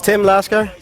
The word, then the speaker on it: Laskar: My name is Tim Laskar.